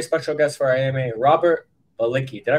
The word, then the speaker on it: Balicki: guest for AMA Robert balicki did I pronounce that correctly it's a balitski but it's kind of hard to go from English diction to polish diction so I go by baliki okay okay I didn't